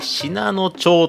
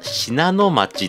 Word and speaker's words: 信濃町: 僕自身ですねオープニングの方で信濃町と言ってしまったんですけれどももちろんですねあちらの駅の読み方は信濃町ということで当たり前ですよ